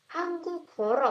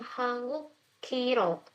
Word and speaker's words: 한국어로: Hangukoro. Hangukoro, bukan Hangukiro.